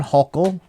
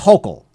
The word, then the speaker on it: Hochul: here, finally, Governor Hochul.